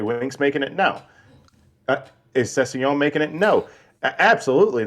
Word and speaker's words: Sessegnon: Could you pronounce the steak that starts with the word filet? What are you saying? I don't understand what you're saying. The cut of steak. Sorry. The cut of steak that starts the word. It's 2 words. The first one is filet. Mignon? There you go. That's how you pronounce it.